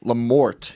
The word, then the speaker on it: LaMorte: Guys, we have Dan LaMorte here.